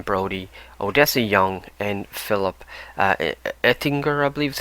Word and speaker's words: Ettinger: Jesse Eisenberg, Adrien Brody, Odessa Young, and Philip Ettinger, I believe is how you pronounce his name, Ettinger.